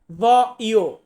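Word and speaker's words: voglio: অি এল এ অ এখানে আমরা কিন্তু এল এর উচ্চারণটা করবো না যার কারণে এটা ভলিও হবে না সঠিক উচ্চারণটা হবে ভই ভই উন লাবড়ো আমি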